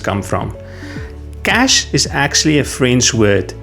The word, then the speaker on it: cache: The e at the end is silent. We do not pronounce it. So, where do the other pronunciations come from? Cash is actually a French word.